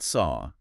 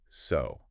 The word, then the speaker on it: so: It's not saw, it's so. It is a long o sound like the word go or the word no. So you must remember to round your lips.